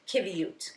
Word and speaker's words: qiviut: nice and all right so give me that pronunciation one more time kute kute okay I wrot yeah I I'll get